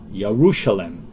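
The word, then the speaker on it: ירושלים: Well, Jeru is a English pronunciation. Hebraic pronunciation will be more close to Yaru. Yerushalem comes from the root word Yara, or you could say Yaru, Jerusalem.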